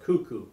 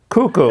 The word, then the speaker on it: Kaku: That's pronounced cuckoo. Cuckoo. Okay. Cuckoo. Pronounced cuckoo, okay?